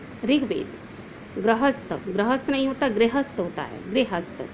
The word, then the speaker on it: ऋग्वेद: बच्चों ऋषि की मात्रा को हम री के साथ पढ़ते हैं, ई की मात्रा का के साथ उसका उच्चारण किया जाता है। जैसे ऋग्वेद, ऋग्वेद नहीं होता ऋग्वेद, गृहस्थ, गृहस्थ नहीं होता